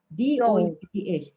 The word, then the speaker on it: dough: Okay, how do I pronounce this one? D-O-U-G-H.